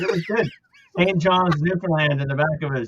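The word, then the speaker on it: Newfoundland: tell you right now everybody pronounces it wrong it's not new found land it's Newland labador can't correct nfln Labrador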